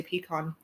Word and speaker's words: pecan: i made a pumpkin pecan pie and yes i say pecan a lot of people around here say like it's like weird in french it's like con or something and then northerners say pecan all different pies that's